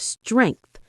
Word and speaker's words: strength: Focus on the pronunciation of strength. End it softly with a gentle th sound, not t.